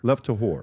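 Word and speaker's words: Lev Tahor: Lev to Levore. Am I saying it correctly? Lev to Lev to It's a Hebrew for essentially the pure ones.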